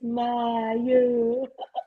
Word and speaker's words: Maya: That's how I say her name all the time. It's Maya.